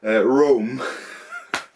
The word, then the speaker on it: Rome: Okay, not Rom, Rome. Fun fact, Rom in Danish and Rome in Danish is spelled the exact same way and pronounced the exact same way.